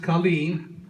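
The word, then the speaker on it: cailín: That's how it's pronounced Colleen.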